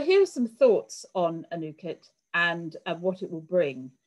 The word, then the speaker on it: Anuket: on this new initiative a new kit i have to say it correctly it's a difficult word